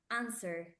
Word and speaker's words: answer: answer the W is answer answer the W is not pronounced yes let's see this